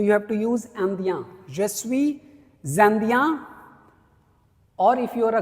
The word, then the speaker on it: je suis indien: Example, je suis indien. If you are a boy, तो you have to use indien. Je suis zandien. Or if you are a girl, you have to say je suis zandienne, which means I am Indian.